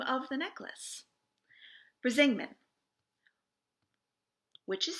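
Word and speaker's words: Brísingamen: Brisingman, which is spelled Brisingmen.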